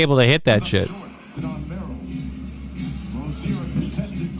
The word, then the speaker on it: Rozier: I think it was Frozier, not Brozier. I don't think it was Brozier. Maybe it was Brozier. I don't know how to pronounce that name right. No, it's Rozier.